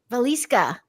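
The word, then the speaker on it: Wieliczka: What I want to share though, too, like 30 minutes from there though, and I'm gonna say this right, uh, Velisa, spelled with a W, but is the salt mines.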